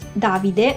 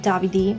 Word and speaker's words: Davide: famous in Australia are Davide, which is pronounced Davide, not Davide.